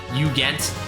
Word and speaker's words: Ugent: Ugent is pronounced Ugent with a hard G.